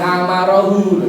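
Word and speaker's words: وَأَمَرَهُ: Wa bacanya ternyata wa amarohu gitu ya. Kenapa kok begitu? Karena wawunya wawu atau ini diatofkan kepada khotobahu. Khotobah itu fi'il madhi.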